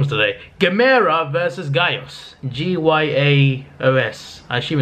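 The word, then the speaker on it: Gyaos: So it's pronounced Gaos. Gaos, I think. Like, they said it like 24 times in the movie and I've forgotten already. It's Gaos.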